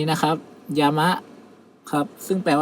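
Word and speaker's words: 山: ครับ เช่น คำ ว่า คำ นี้ นะ ครับ ยา มะ ครับ ซึ่ง แปล ว่า ภู เขา ครับ เป็น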